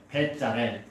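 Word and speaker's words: 브살렐: 원래 발음은 베짤엘이라는 말이에요. 베짤엘. 근데 이제 표기법은 부살렐이라고 표기한 겁니다.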